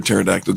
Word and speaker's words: pterodactyl: you never hear a pterodactyl go to the bathroom no why because the P is silent so dou u by